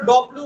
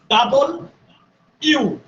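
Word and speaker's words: W: যাবে না পরেরটা খেয়াল করেন পরেরটা যেটা আমরা ডব্লিউ বলি নানান ভাবে উচ্চারণ করতে থাকি এটা ডব্লিউ না ইংরেজিতে একমাত্র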